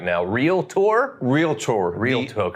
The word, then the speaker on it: Realtor: Realtor. The additional A that people add is silent, so it's Realtor.